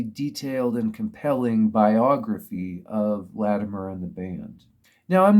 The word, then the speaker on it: Latimer: and Colin bass I've been corrected on my pronunciation of that name Andy Latimer and Colin bass uh regarding the history of